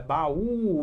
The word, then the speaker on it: baú: Qual é a síla mais forte de baú? É a última. Paraíba, país. Aí você pensa, ora, então baú é uma oxítona, só que oxítona terminado em Uentua. Mas se eu não acentuar ba e não é bau, é baú.